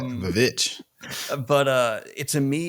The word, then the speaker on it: The VVitch: It's spelled with two V's. I've seen it, but I never knew. I like it. The Witch.